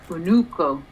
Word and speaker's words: unuko: old form, and then unuko is the new form. Nduska or schwa. Schwa. And then the new form is unuko? Unuko. Yeah, because the stress is on the second u.